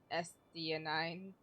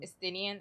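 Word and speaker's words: Estinien: Oh yeah, I forgot the dragon's name is SD9. I That's not how you say it. Estinian.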